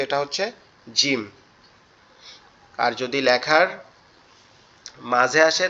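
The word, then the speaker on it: ج: জিমটা হচ্ছে আমাদের জিহ্বার মধ্যকান উপরের তালুর সঙ্গে লাগায়া, জিহ্বার মধ্যকান উপরের তালুর সঙ্গে লাগায়া।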